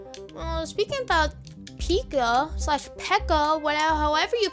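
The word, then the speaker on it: P.E.K.K.A: a bunch of mini pikas or a normal pika slash pekka whatever one kid in my school kept like no it's pronounced pekka not pika so whatever also him and his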